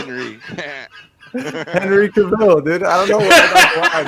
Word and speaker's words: Cavill: And I think they gotta announce Henry Cavill. If they don't, it's still fine. Like whatever, I don't care. But he's Hey, Austin, What? it's pronounced Cavill. I know. I keep saying it wrong, dude.